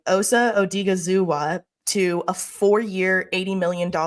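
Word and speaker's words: Osa Odighizuwa: they signed I'm G to make sure I pronounce this right Osa odiga zua to a four-year 80 million contract um he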